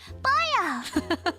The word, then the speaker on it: Pollo: For future reference, since a lot of people get it wrong, the name is pronounced, oh, Pollo. Oh, yeah, Baya. Like what Kirby says. That's really cute. Oh, it's Spanish for chicken.